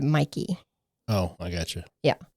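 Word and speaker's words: Mäki: And I don't know if it's Mikey or Mickey. It's spelled M-A-K-I, but everybody pronounces it Mikey.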